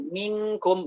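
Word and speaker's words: منكم: ee kata para ulama agar supaya dia lebih dekat dengan eh izhar maka pengucapannya seperti itu minkum bukan mum kalau itu masih jauh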